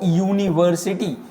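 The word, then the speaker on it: university: again जो पहला sound है वो यूनिवर्सिटी ठीक है यूनिवर्सिटी means Y इज a consonant that's why अ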